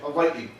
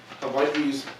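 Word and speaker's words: Hawaiʻi: the indigenous names of these places Hawaii everybody hawaiii okay cool Hawaii is you know our 50th state became part of the Union in 1959 haai the term Hawaii serves as the name or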